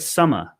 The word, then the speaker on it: summer: So in the word summer in British English, pronounced as summer. So here is different. We don't pronounce the R so much. You can just end that with summer, like mother, father, summer, but prefer is different.